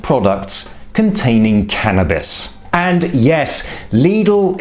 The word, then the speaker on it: Lidl: And, yes: “Leedle” is the correct pronunciation.